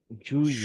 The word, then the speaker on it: juillet: আচ্ছা, একটা জিনিস বলে রাখি, যখন ফ্রেঞ্চে আপনি ডাবল এল দেখবেন, এই ডাবল এল থাকলে সেটা সাইলেন্স হবে, কোনো উচ্চারণ হবে না সেটা, ঠিক আছে? যেমন ওয়াকে আমরা কি বলি, ওয়াল্ক বলি না তো, রাইট? সেম এখানে ডাবল এল যখন দেখবেন সেটা সাইলেন্ট হবে।